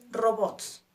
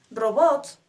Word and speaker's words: robots: ejemplo de esto es robots robots termina en t s por lo tanto no se acentúa ro Bots nuestra sílaba tónica es Bots pero al llevar t